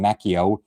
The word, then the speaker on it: Macchio: We also have a foreword from longtime Marvel editor and writer Ralph Macchio, no relation to the Karate Kid. That's why ever since the 80s, he's been pronouncing his last name Macchio.